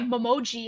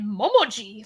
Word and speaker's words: Memoji: it now like um we used to say a memoji and now we say it momoji like oh we have to have that like the the intonation on the right syllable it's like [ __